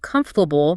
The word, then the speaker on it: comfortable: Like comfortable. If you say every syllable clearly, comfortably deviable. A native speaker listening for the natural rhythm closer to comfortable might actually miss it.